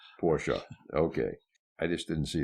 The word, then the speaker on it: Porsche: Like the family prefers Porsche. Porsche. Okay. I just didn't see the A at the end of it. Well, the E is pronounced A. It's pronounced. It's not there, but it's pronounced.